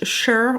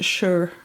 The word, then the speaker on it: Sur: Je vais appliquer le blush Sur ou Sur, si je vous le prononce en français. Mais MAC étant une marque anglophone canadienne d'ailleurs, de Toronto, c'est le blush Sur, si on le prononce comme il faut.